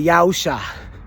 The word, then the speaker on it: Yawsha: There is a dispute about how that letter is pronounced. It's either Ah or I. And I'm of the belief that it's pronounced Ah. And so we say Yawsha.